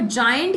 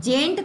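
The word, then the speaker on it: giant: जायंट में आई पहले आता है, ए बाद में आता है ना, इसको प्रोनाउंस भी कैसे करते हैं, जेंट थोड़ी ना करते हैं, जायंट करते हैं।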